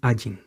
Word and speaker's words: Ayin: Aleph, ahí es un Ayin. En los tiempos antiguos, la Ayin tenía un sonido semítico. No es como ahora. Ahora la Ayin, al igual que el Aleph, es un sonido mudo.